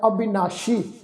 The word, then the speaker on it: अविनाशी: अविनाशी सस्से दे पैर विच बिंदी लगा के पाठ उच्चारण करना है, अविनाशी जिसका नाश नहीं हो सकता।